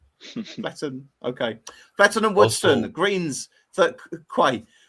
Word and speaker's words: Fletton: I pronounce that right it's not it's not Fleeton it's not Fletton Fletton okay and Woodston greens quite 37 7.72%.